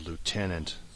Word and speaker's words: lieutenant: good stuff and yes that's how British people managed to butcher the word Lieutenant this will bother me throughout the entire game lieutenant there is no F in Lieutenant Lieutenant it is not an